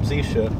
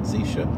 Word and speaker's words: Zisha: Anapoli, the Rebbe Reb Zisha, depends on how you pronounce it. Where he lived in Ukraine, they probably said Zisha.